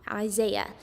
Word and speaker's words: Isaiah: is pretty easy um there's a I saying ah so is say ah Isaiah so um Isaiah is about